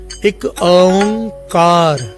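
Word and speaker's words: ੴ ਇੱਕ ਓਅੰਕਾਰ: असल में ओंग भी नहीं है, ओंग है। एक ओंकार, ये है असल इसका प्रोनाउंसिएशन।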